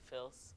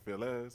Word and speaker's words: Fils: How do you say your last name? Fils. Okay. All right. I didn't know if it was like Phyllis or Fils. No. You know, you never could. You never know. I gotta ask. Like, people be getting fancy. I feel like here's the real pronunciation. Like, if you were to read it in French, is Fils.